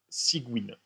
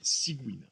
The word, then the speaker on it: Cygwin: Sous Windows, moi je fais tourner mon soft avec un logiciel, une espèce d'émulateur Linux Windows qui s'appelle Cygwin.